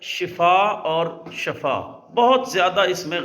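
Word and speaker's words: شفا: ई हो जाता है लिहाजा बेहतर लफ्ज जो है वह है शिफा कि अल्लाह आपको शिफा दे तो शीन के नीचे जो है वो जेर आता है जी तो कुछ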